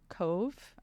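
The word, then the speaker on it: Cobh: which is actually per it's a Cove um I don't know if they changed the name or if it's just here's the Irish name it's spelled c BH uh and they were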